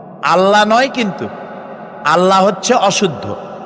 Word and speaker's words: আল্লাহ: বলেন তো, আল্লাহ নয়, কিন্তু আল্লাহ হচ্ছে অশুদ্ধ, শুদ্ধ হচ্ছে আল্লাহ। বলার সময় মুখটা গোল হয়ে যাবে।